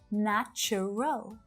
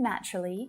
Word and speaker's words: natural: for that at all it looks like there should be three right na chu rel nacho roll but when spoken naturally native speakers usually reduce the pronunciation of this word down to just two syllables not true natural natural